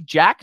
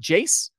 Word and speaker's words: Jac: crew it's Jack Collinsworth j-a-c Jack not Jace it's a hard C with Bill K after